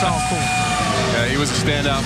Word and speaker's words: Alcorn: Is it just a little bit of that Mississippi draw, all corn? But it's not Alcorn, it's all corn.